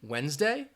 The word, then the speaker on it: Wednesday: all right you have the D in Wednesday the H in honest